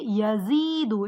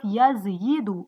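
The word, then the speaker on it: يزيد: But they're gonna make it smooth and they're gonna say yazidu instead of yazyidu.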